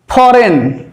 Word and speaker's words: foreign: ফরেন ফরেন ফরেন FOREIN FOREIGN অর্থাৎ জি থাকলেও উচ্চারিত হচ্ছে না থাকলেও উচ্চারিত হচ্ছে কিন্তু